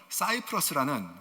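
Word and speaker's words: Cyprus: 곳입니다 세 번적 성경에는이 구브로가 키프로스 돼 있고요 이게 영어식 발음으로는 사이프러스는 지금의 아주 유명한 휴양 그런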